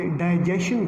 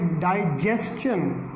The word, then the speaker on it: digestion: हो रहा है और आम तौर पर हम इसे डाइजेशन पढ़ते हैं, जबकि हम उसको गलत पढ़ रहे हैं, गलत प्रोनाउंस कर। डाइजेशन नहीं है, यह है डाइजेस्टन, डाइजेस्टन।